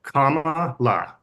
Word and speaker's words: Kamala: um so for her the way to say her name her first name is to think of a punctuation mark Comm La Comm Harris um it's